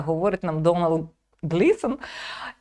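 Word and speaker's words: Domhnall: Ви зрозумієте, що там актор говорить, як правильно вимовляється його ім'я. Його звати Донал.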